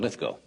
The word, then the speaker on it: Lithgow: to say we have I pronounced John lith Go's name John lithco and it's John litho will be with us